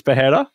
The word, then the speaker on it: Pereira: you pronounce it right it's not Pereira it's pajera yeah I think so I tried saying it